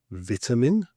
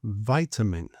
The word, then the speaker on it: vitamin: For instance here I would say vitamin and Americans would say vitamin and the American pronunciation